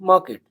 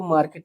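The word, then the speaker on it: market: वी कैन गो टू द मार्केट, हम बाजार जा सकते हैं। इसको मार्केट नहीं मार्केट बोलते हैं, आर को साइलेंट मारते हैं स्पोकन में।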